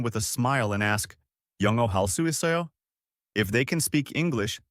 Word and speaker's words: 영어 할 수 있어요: The pronunciation is 영어 할 수 있어요?